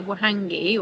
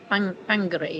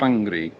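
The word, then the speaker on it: Whangārei: Like wonderful, but WH is pronounced. Well, so what we would say Wahangi, or we thought it was Wahangari, whatever, is Whangari, isn't it? Whangari. Yeah, and they roll their R's.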